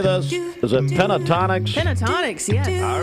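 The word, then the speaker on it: Pentatonix: Pentatonics, yes.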